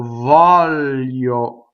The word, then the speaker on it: voglio: The GL is lio. So you go L, and then Y, yo.